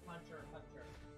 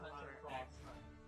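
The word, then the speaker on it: Hunter × Hunter: Which is pronounced Hunter Hunter. Not Hunter Cross Hunter. It's not Hunter X Hunter, it's not Hunter Cross Hunter, it's just Hunter Hunter.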